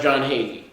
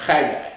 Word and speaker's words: Haggai: It's not pronounced John Hagee. No se pronuncia Juan Hagee, It's pronounced Haggai.